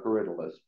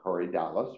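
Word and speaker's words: Corydalis: almost always the yellow caridalist and for the longest time I pronounced it Curry Dallas because that's what it looks like uh but then I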